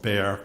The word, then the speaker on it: Bexar: In 1981, I became chief medical examiner of Bexar County, Texas. And for the transcriber, Bexar is spelled B-E-X-A-R. The X is silent.